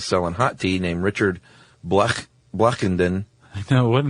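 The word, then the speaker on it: Blechynden: hot tea named Richard Blackenden. I know, what a name. I know. And he was, Even if you pronounce it the other way, like Bletchenden, it doesn't matter.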